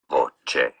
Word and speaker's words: voce: Voce, voce.